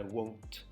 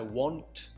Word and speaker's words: won't: I won't. Not I want to study, but I won't. So just emphasize the O sound.